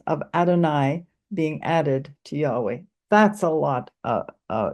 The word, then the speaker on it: Yahweh: reading the scriptures and today many scholars believe the name was likely pronounced Yahweh however others use uh